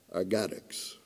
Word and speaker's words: RGADX: And as a mnemonic, I pronounce that Argadix.